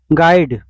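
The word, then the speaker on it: guide: है क्वेश्चन संख्या 75 है which letter is silent in the word गाइड विकल्प ए है यू विकल्प बी है आई विकल्प सी है डी विकल्प है जी राइट आंसर ए हो जाएगा यू साइलेंट रहता है क्वेश्चन संख्या 76 है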